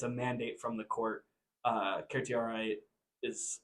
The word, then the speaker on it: certiorari: In a court, you would usually pronounce it certiorari. Certiorari is another way of you can pronounce it.